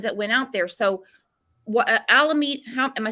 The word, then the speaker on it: Alameda: So Alameda, am I saying it right? Alameda County? Yeah, Alameda.